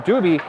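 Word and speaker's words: Dubie: And getting to this is Tom Duby. I had D-U-B-L-E, that's why there was confusion. D-U-B-I-E is actually how you say his name.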